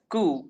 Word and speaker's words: coup: It organized a military coup. Well, this word is pronounced as coup but spelled as coup, which is COUP.